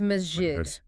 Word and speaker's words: masjid: It's majid. Majid. The S is sharp. The J is like the J in jam. And the short I is crisp.